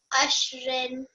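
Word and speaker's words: عشر: Just have the ra come through a little bit more. Ashr. Ashr. Good. Make sure that I know it's a bit tricky to make the final sound of the last letter, so try not to apply any stroke on here.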